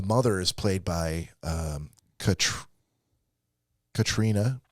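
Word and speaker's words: Caitríona: is played by um Katrina it's not spelled Katrina it's pronounced Katrina but it's it's pronounced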